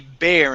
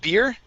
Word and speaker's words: bear: Now, this word here is going to be bear instead of beer, okay?